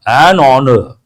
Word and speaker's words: honor: No, an honor. Because H is silent.